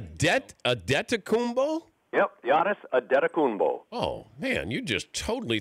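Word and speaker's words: Antetokounmpo: ano stuff in there if you just break it down to the the Nigerian pronunciation the way he says it it is Giannis adeta kumbo adeta kumbo yep like aeta kumbo oh well that doesn't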